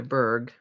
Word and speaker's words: Bourg: I guess it's pronounced Brenda Berg, but it's Bourg is the way the last name is spelled.